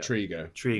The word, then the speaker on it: Trego: Is it Trego or Trego? Trego. Yeah. I've always pronounced it Trego, so I'll get it right now.